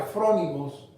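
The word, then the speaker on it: φρόνιμοι: es una palabra griega desconocida se llama se pronuncia from imos pero cuando usted estudia esas palabras from imos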